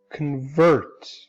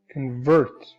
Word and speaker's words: convert: Take, for example, the word as a verb, convert. Convert. The stress is on this syllable. This syllable is not stressed. So this sound is reduced to a schwa. So this part is pronounced as the schwa sound.